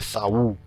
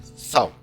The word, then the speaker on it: saudade: Uma sílaba só, não é Saul, né? É sal. Eu abro a boca no A, quando eu estou fechando, eu formulo o U ali e já acaba a sílaba.